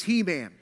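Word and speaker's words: Heman: a mask of He-Man now some people probably pronounce it Haman because there's no hyphen but I'm telling you it's He-Man it's He-Man and uh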